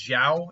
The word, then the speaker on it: Xiao: quick here Yang's yeah I believe it's Zhao is the way you pronounce that middle name uh x-i-a-o Zhao is one of the